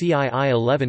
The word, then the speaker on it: 㓾: For example, the vernacular character Xi, pronounced CII11 in Hakka, means to kill.